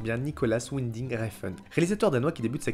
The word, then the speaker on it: Nicolas Winding Refn: Non, ça se dit Nicolas Winding Refn.